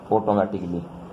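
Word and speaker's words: automatically: जोड़ देते हैं, तो यहाँ पर जो ये ICALLY जोड़ देते हैं तो ये ए साइलेंट हो जाता है, ठीक है। जैसे कि ऑटोमेटिकली ऑटोमेटिकली, तो इसके लिए यहाँ पर ये जो ए है साइलेंट हो जाता है, ठीक है। दूसरा वर्ड आपका बेसिकली, तो यहाँ पर ये ए साइलेंट हो जाता है, चेंज हो जाता है बेसिकली।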